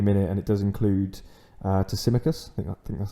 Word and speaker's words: Tsimikas: I have got 3 at the minute, and it does include Tsimikas. I think that's how you say it. Tsimikas, yes.